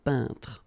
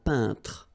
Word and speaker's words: peintre: So remember when you get this E-I-N together here, then you pronounce this un sound. So nasal in your nose, un peintre.